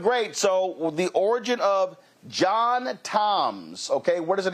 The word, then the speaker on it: John Tom: Uh they were southern from Mississippi, so they pronounced it Joan Tone.